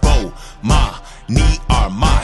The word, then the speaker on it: Bomani Armah: announcements imma say my name so you can pronounce it oh ma me are my shout out to early visors I see who